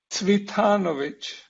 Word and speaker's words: Cvitanović: bit weird this name only my mother knows how to pronounce his name but my best imitation of my mother is predrag sweethanovich now you can call